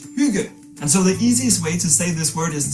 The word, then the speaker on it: hygge: So, the pronunciation is huga. Oh, huga, right?